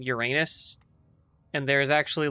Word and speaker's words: Uranus: It was meant to be pronounced, I think it's Uranos, but because of how it got like translated, it became Uranus.